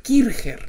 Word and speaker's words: Kircher: conca y se h como suena kirchherr era de origen alemán y en consecuencia se debería pronunciar kircher no no quiere tener